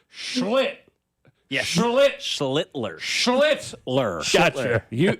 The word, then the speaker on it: Schlittler: got to be careful when It's you say Schiffler? No, it's. I'm not say his name. That's his name. Schittler. Yeah, that's his name. That's his name. I can say that. It's Schlitt. Yeah, Schlittler.